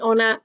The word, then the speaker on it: honour: So if the H is silent, they sound like they start with a vowel. So you actually use an. So an honour, an hour.